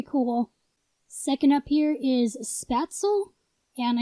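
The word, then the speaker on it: Spätzle: second up here is spatzle and i know that's like the american pronunciation that's not actually how it's pronounced in german but this is a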